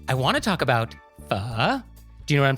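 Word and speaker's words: phở: And so for pronunciation, the correct pronunciation, or as close as I can get, is pho. And Vietnamese is a tonal language. And so it's a low falling and then rising tone, kind of like Mandarin's third tone.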